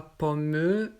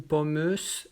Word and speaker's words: pomme: On ne prononce pas le E ou le S. On ne dit pas pomme ou pommeuse, non, pomme.